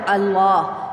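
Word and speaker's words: الله: الحمد سے یہ دیکھیں یہاں پہ آپ نے شد پیدا کر دی، یہ جو لام ہے اس کے اوپر شد لگ جاتی ہے۔ جیسے کہ آپ اس کے اگر ہجے کریں گے تو آپ اس طرح سے پھر الف کو لام کے ساتھ ملایا تو ال، اور لام کھڑی زبر لا ملایا تو اللہ۔ تو یہاں پہ چونکہ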